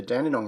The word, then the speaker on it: Dandenong: And then over time, the spelling and the pronunciation changed and it became D instead of G, and it got an E instead of a Y, so it became Dandenong.